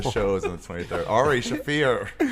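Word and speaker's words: Ari Shaffir: Starring Ari Scheifer. The show is on the 23rd. Ari Shafir. It's spelled the same way, so it's fun.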